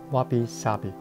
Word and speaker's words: 侘寂: 差寂，日语发音是 wabi sabi。